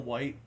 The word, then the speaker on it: Wight: will white or right I think it's will white is how as you pronounce his last name it's actually I I